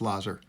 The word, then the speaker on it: Lazar: always want to say Lazar because I knew a kid in in uh in high school whose name was Lazar uh but uh apparently his is pronounced Lazer so uh Lazer didn't have that great